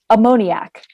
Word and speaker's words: ammoniac: There are no alternate pronunciations, just ammoniac.